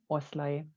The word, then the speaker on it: Oszlai: It's Oszlai. Oszlai.